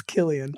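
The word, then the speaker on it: Cillian: what's his name yeah how would we pronounce that do you think silence it's killian uh who's probably most famous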